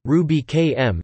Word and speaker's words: Rubychem: Ruby Kemp pronounced Ruby km is a freely available